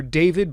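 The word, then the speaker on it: d4vd: First of all, cars registered in Texas to a somewhat notable singer, a guy who goes by the moniker David, but it's spelled D4 VD.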